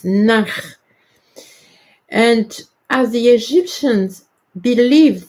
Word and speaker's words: ankh: It is, in ancient Egyptian, it is nakh. And nakh is equated to ankh. But the writing and the good pronunciation is nakh.